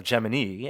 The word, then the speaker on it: Gemini: And became very clear that Gemini, or Gemini, as it's pronounced at NASA and in the film, well underrepresented in film and popular media, and something that all three of you really enjoyed.